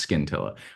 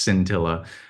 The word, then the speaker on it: Scintilla: they're calling it cintilla I don't know if it's skin I hope it's not pronounced skin Tilla I think it's pronounced scintilla um that will be